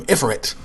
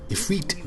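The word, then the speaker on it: Ifrit: Uh, glad I heard that word. Otherwise, would call him Ifit. Ephre then actually I did know that because it's spelled differently sometimes.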